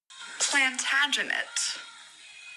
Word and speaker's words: Plantagenet: resident Shakespeare scholar Odessa cross for the correct pronunciation of this word and this is what she had to say about it plantagenet should I say it again like they do